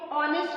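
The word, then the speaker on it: honest: अभी देखो ऑनेस्ट का मैंने जैसे आपको पहले बताया कि जो एच है वो क्या है? साइलेंट है, तब हम यहाँ क्या लिखेंगे?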